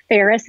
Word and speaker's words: Faris: Faris is spelled just like Paris, the city, but with an F like Frank.